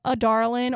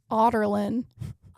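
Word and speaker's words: Adarlan: So pretty much all of us book readers pronounce it like a darling or like some version of that. I heard the audiobook, and this was a big thing on TikTok. We heard the audiobook for the first time, us book readers, and it's pronounced like Otterlin.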